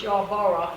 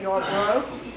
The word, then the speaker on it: Yarborough: my name correctly because many times it's y'all borah instead of your bro but i am happy